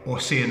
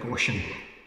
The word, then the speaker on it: Ossian: This is called Ossian, or Ossian as it's often called, but I think the Gaelic pronunciation is more like Ossian.